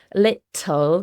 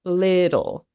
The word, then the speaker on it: little: thing with water, little, that T and double T in the middle of words often changes to a D sound. So instead of little, which sounds very British when I say it like that, it's little. So you want a little bit of cake.